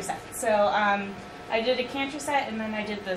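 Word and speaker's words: Cantor: There was the caster fractal, is that how you say it? The one? The caster, the one where you took out a third. Oh yeah, the Or canter set.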